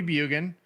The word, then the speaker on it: Bjugan: you know so bugin um so c-o-d-y-b-j-u-g-a-n last name is pronounced bug and drop the J so follow bugin on Instagram follow bugen on Facebook um and